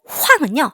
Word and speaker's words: 晃: 황은요, 흔들리다. 야황 할 때 그 황입니다. 야황은 뭐예요? 네, 이리저리 흔들리다죠? 거기에 황입니다. 황은 흔들리다 라는 뜻이에요. 사성이에요. 발음 주의해주세요.